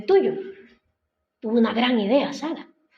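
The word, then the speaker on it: Sarai: que a Saray sar Cómo se dice Saraí Sara se pronuncia Sara Bueno pues Sara Sara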